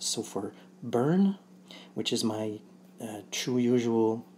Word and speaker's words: Bern: So for Burn, which is my true usual diminutive, instead of saying Burn, often Scottish would probably say Ben, because the R isn't pronounced.